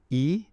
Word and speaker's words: yi: going their their attention which in in dosm we call your e it's spelled y i it's an extremely important